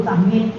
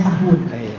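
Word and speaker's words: سهو: Kalau ikut Arabnya sahwun. Ya, sahwun, sahwin. Boleh. Di Latin apa? Sahwin. Tak apa. Ya, saya bacanya sahwun. Karena umumnya di kitab-kitab Arab sahwun. Tapi tak salah pula yang di Melayu tuh ya, yang di Latin.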